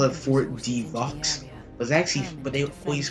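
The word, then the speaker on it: Fort de Vaux: The X is silent. I used to call it Fort Devaux.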